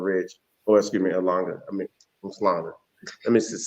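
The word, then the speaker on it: Umhlanga: Actually, where you were sitting, there was a Radisson Hotel being built down there in Langa Ridge, or excuse me, Slanga.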